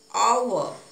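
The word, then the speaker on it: hour: lunch when yet it's silent for example and our and honest in this example H is silent the pronunciation of these words are honest our so we used an article then article though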